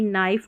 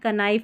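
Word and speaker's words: knife: आर में ऐसे ही के एन साथ में आता है इसको न पढ़ते क्योंकि के साइलेंट रहता है जैसे नो नी नाइफ नो तो कनो कनी कनाइफ ऐसे नहीं पढ़ना है तो यहां पे कौन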